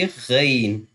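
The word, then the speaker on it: غ: from the middle throat, and Ghain will be from the upper throat, from the upper side of the throat, the throat near to the mouth. That will be Ghain, Ghain, Ain, Ghain.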